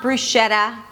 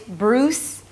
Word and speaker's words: bruschetta: It's not 'brushetta' It's 'bruws-keh-da'. The first syllable is 'bruws'. It's a B sound an R, round your lips for the R. It's not 'brrruws' but 'bruws'. A tense /uw/ and an /s/. Like the name Bruce, as in Bruce Springsteen or Bruce Willis.